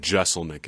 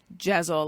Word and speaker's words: Jeselnik: But Jeselnik is the way to go. Okay. Yeah. Yeah, I don't know why I thought that perhaps it was Jezel, like guzzle. People say it like that a lot.